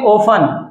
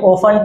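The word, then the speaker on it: often: और तुम्हें ध्यान पर रखना है एजुकेशन, इसको बोलेंगे ओफन। क्या है ये? ओफन, टी साइलेंट है इसके अंदर।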